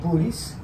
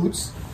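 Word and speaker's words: Boötes: is up which is in the constellation of booties or boots depending how you pronounce and just want to see how it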